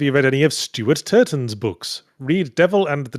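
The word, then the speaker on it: Turton: And Turtton, I think it's pretty. Not if you pronounce it properly and emphasize the T so it doesn't sound like Turan. Steuart Turtton.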